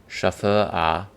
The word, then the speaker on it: Schöfferhofer: we'd like to introduce you to the proper pronunciation of our unusual and challenging name, Schafferhofer.